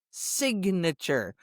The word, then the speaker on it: signature: Take the word sign, S-I-G-N, sign. But when I add the suffix A-T-U-R-E, it's signature. Now, the I goes from long to short, and you hear the G and the N.